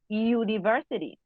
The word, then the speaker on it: university: sounds like a vowel but you university it doesn't sound like the vocal it sounds like a consonant university so we use ah